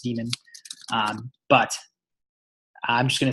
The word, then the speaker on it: daemon: this word right here actually technically pronounced demon but I'm just gonna